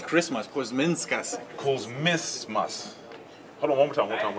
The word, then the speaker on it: Kuzminskas: guy on my team who's the quietest is Mandalgus Kuzmiskus. I don't know how to pronounce his name, right, man?